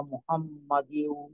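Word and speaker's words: محمد: মুহাম্মাদ কামা সাল্লাইতা আচ্ছা, এখানে আলা মোহাম্মদ হবে না মাদ হবে কোনটা? মুহাম্মদ। জি, আর তামা, শেষে, মুখস্থ বলতেছি শেষে, হুজুর। যে মুখস্থই বলেন, সমস্যা নেই। আর শেষে যেহেতু দাল, দালে শেষ হচ্ছে তো আংশিক কলকলা করাটাই ভালো। মুহাম্মদ। কলকলার তামা, যে ফিট, কলকলার যে ফিটটি আওয়াজ, ওইটা তো নিশ্চিত করতে হবে, অর্থাৎ বাদের।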